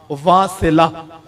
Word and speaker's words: واصلہ: مشورہ۔ حضرت جناب سیدنا واصلہ بن اسقع، یہ واصلہ، میں اس کی پروننسیشن بھی بتاؤں اور تلفظ بھی کروں، واو الف سا لام ہا، واصلہ، یہ حضور کے صحابی ہیں۔